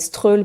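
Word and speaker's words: Strøget: sur la rue principale qui s'appelle stroll mais qui s'appelle qui s'écrit Stroget il y en a un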